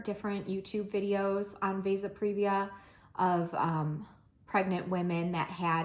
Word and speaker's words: vasa previa: I've been saying Vasa previa. I think it's Vasa previa, so I think I've been saying that wrong. But I watched like 4 different YouTube videos on Vasa previa of pregnant women that